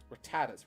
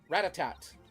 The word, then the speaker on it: Rattata: My siblings thought that it was called Ratatat. And so what did young Gideon repeat?